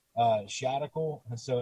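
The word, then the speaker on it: Shadical: personal profile it's uh shadocle and so it rhymes with the radical and it's replacing the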